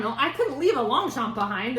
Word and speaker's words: Longchamp: Also, in a super picked over bin, a Longchamp. And from what I gather, it is Can you see the name of that? Longchamp.